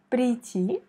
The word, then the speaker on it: прийти: Прийти, on met l'accent sur la dernière i, к вечеру. Вечеру, c'est la première i qui est frappée par l'accent. Прийти к вечеру.